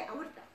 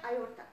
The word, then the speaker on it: aorta: So Arab students might say aorta, like Arabic, not aorta.